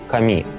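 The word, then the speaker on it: 紙: Как правильно Ну вообще по-японски бумага идёт ками Вот потому что если сделать ударение на первый слог получится боги А здесь Здесь нужно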